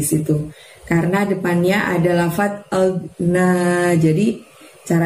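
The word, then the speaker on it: ما أغنى: Karena depannya ada lafaz agna. Jadi cara bacanya gini teman-teman. Ma agna, agnya jangan sampai mantul suaranya ya, ditahan ya. Lalu na-nya panjangnya 2. Agna, bukan ag, tapi agna, seperti itu.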